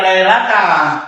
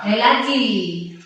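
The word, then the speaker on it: ليلةِ: Maka dia sebutnya nanti bacanya jangan lailata. Lailati. Kata lailati.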